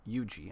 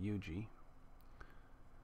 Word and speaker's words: Huger: Eugi, I guess, is how that's pronounced. Eugi.